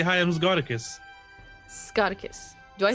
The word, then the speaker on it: Scoticus: I get Z-cots a lot, a whole lot, and it's just because people aren't used to seeing the Z next to another consonant. Really, they're like, "What?